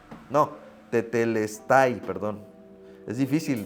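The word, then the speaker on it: τετέλεσται: eh que es del vocablo teles no perdón teteles no tetelestai perdón Es difícil pronunci estas y significa todo está cumplido todo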